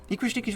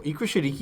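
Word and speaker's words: Ikra Shidiqi: Ikra Shadiki. I remember of Rafiki. That's just the way you said it. Rafiki. It does rhyme. Ikra Shadiki rhymes with Rafiki.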